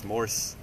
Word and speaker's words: Morse: Christopher Morris? Yeah. Just Morse, like the code.